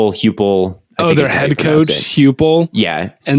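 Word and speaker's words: Heupel: How do you pronounce their coach's name? It's Hupel.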